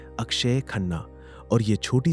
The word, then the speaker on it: अक्षय खन्ना: कई लोग उन्हें अक्षय खन्ना कहकर बुलाते हैं। लेकिन उनका सही नाम और उच्चारण है अक्षय खन्ना।